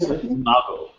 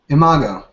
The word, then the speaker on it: Imago: is something called, I don't know how to pronounce it, Imago? Right, it's Imago. Imago.